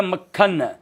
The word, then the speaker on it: मक्खन: शब्द है मक्खन। मक्खन नहीं होता है, शब्द होता है मक्खन, क आधा क पूरा।